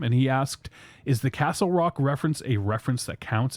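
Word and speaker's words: Casselroque: o q u e so it's just pronounced Castle Rock but it's not really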